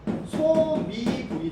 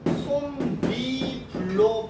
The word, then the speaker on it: 솜이불: 이렇게 발음을 해야 맞는 건지 니은 첨가를 해가지고 솜미불로 발음을 해야 맞는 건지 표기만 봐가지고는 모르지. 그죠? 왜냐면 모든 조건에서 적용되는 게 아니기 때문에 이거는 소미불이 아니라 솜미불이 맞거든요.